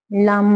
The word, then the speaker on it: लं: ठीक है, आप लंबी गहरी सांस भरेंगे, ल बोलेंगे, ल के बाद जब म बोलेंगे तो जीभ को तालू से लगा लेंगे।